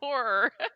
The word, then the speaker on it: horror: Say horror. Horror. You gotta pronounce that R.